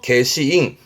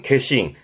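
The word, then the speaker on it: 消印: 일단 발음은 개시.이 소자가 지우고 꺼버리는 거라서 지우다의 개수. 개스에서 개시잉. 개시잉합니다. 소인이 뭐냐면 혹시 이런 거 본 적 있으세요? 우편물에 도장 찍히죠. 요게 소인입니다. 그러니까 그 도장으로 인해 가지고이 우표의 효용을 지어 버리는 그런게 소인이고 발음은 개신. 발음은 한번 더 봐 두세요. 소인의 개신. 개신 뒷자는 상자 코끼이 말하는 코끼리 상자네요.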